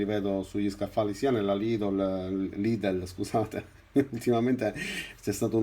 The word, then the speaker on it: Lidl: snobbo quando li vedo sugli scaffali, sia nella Lidl, scusate. Ultimamente c'è stato un utente che sotto ad un mio video mi ha corretto perché io pronuncio il nome di questo discount tedesco, lo pronuncio Lidl e invece va pronunciato Lidl.